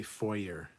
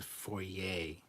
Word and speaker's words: foyer: then they also say foyer it's not a foyer you don't have a